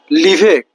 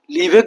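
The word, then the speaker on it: l'hiver: লিভেক। লিভেক বলতে ফরাসিতে উইন্টারকে বোঝানো হয়।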